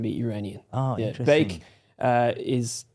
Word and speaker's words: Beiikzadeh: Beik, like bake. Bake. Beiikzadeh.